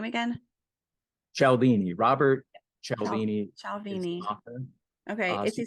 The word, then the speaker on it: Cialdini: powerful okay and is what's how do you pronounce his name again cialdini Robert shelbini okay is he still alive he